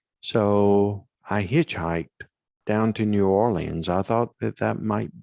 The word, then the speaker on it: New Orleans: and i always will the pronunciation of it is actually new orleans for for those that are are from that area i love that area